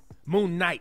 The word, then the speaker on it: Moon Knight: like moonlight i've seen moonlight for sure am i saying it right moon knight excuse me like moon knight i was like i've